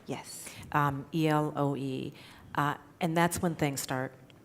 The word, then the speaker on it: Eloe: So they go back to Elo, and that's when, am I pronouncing it right? Yes. Eloe.